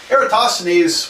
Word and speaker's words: Eratosthenes: all right so is a Greek mathematician Eratosthenes era Oh toss the knees I'm really sure I'm not really totally sure that's how you pronounce it but that's how I always pronounce it Eratosthenes was the in this day was the librarian